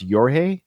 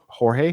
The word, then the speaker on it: Jorge: by a guy named I think it's pronounced yor it's jge o r Jorge jge Rivera Horan this